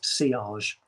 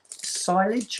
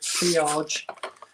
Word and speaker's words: Sillage: Club de Nuit, Club de Nuit, and it is Sillage. Some people will pronounce it silage, I believe, but Sillage.